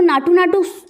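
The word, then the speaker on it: నాటు నాటు: South में तो इसको नाटू नाटू प्रोनाउंसिएशन किया जाता है, बट जब हमें ये हिंदी मूवी बनी ना तो इसको नाचू नाचू करके मतलब फरमाया गया है।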